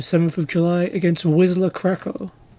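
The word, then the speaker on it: Kraków: And we'll watch their next game on the 7th of July against Wisla Krakow. Or Krakow, if we're being particular with the pronunciations.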